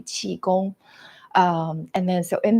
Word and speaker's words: Qigong: Um, so in Chinese, I was born and raised in Beijing, so we call it Mandarin Chi. So when I say Chigon, it's actually chiong.